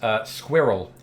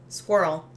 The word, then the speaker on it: squirrel: semi final ah yes squirrel squirrel one one syllable more or less it is and I don't understand that one either so you're definitely two syllables I pointed out ones